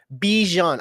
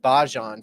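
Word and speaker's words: Bijan: Bjon, I said Bahon for some reason. Bjon. Bahan Robinson. Bjon. Okay, Bjon.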